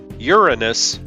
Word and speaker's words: Uranus: sort of like how the British Uranus pronunciation of Uranus based on the Latin and Greek stress pattern is sometimes preferred by Americans who don't like how the Americans say it like it looks version sounds like Uranus Oh